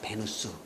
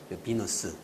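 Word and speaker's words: Venus: 왜 그러냐면 그 로마 시대 때에 썼던 이름들을 라틴어로 그냥 그대로 받아 쓰자 해서 베누스 말을 많이 쓰게 됩니다 학술 용어에는 이제 베누스 많이 써요 아프로디테 베누스 이렇게 씁니다 그리고 일반적으로는 비너스 비너스 영어식 발음에 베누스 영어로 발음 하면은 비너스 이렇게 된 겁니다 그러니까 아프로디테 비너스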